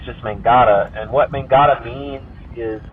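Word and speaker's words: mångata: correct pronunciation it's but it's very much just like it sounds it's just mangata and what mangada means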